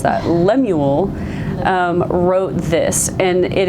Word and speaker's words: Lemuel: Lemuel we had to look up how to pronounce that Lemuel um wrote this and it is said to